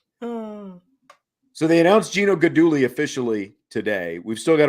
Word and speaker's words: Guidugli: know they announced Geno jiggly why do I keep saying it wrong now good Dooley yes good Dooley yeah what do I